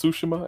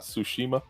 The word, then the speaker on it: Tsushima: Did you know it was pronounced Tsushima and not Tsushima?